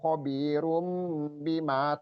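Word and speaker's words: خَبِيرٌ بِمَا: Khabirum ya, rum ini double ya. Double ro, domah tain ro bertemu dengan ba. Jadi dibacanya apa Pak Memen? Pak Lazuardi, iqlab ya, iqlab. Merubah run menjadi rum, merubah huruf nunnya ya runnya menjadi mim.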